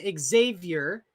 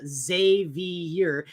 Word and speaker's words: Xavier: look the boys named Xavier pronounced Xavier or JV year is of Spanish Arabic